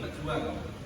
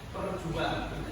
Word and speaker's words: pejuang: Kemudian beberapa kata itu saja kurang mengerti ya, seperti ini pejuang. Ya, tidak ada huruf R-nya, tapi membacanya ada huruf R-nya, sehingga pembacanya perjuang. Seharusnya apa? Pejuang.